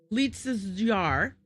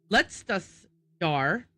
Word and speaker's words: Letztes Jahr: wonder how to pronounce Lietz's jar. And then they looked it up. First of all, it's Letztes jar. And it means last year.